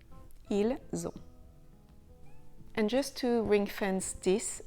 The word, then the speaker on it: ils ont: The S liaison is pronounced z. Ils ont.